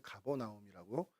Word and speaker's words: 가버나움: 불렀고 저희 한글 성경에는 가버나움이라고 쓰여져 있는 그러니까 헬라어로 음독한 이름입니다.